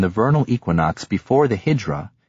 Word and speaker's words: Hijra: The era is reckoned from the vernal equinox before the Hijra, in Farsi pronounced Hedra, 21 March AD 622.